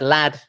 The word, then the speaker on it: lad: But in the word lad, the vowel is pronounced short.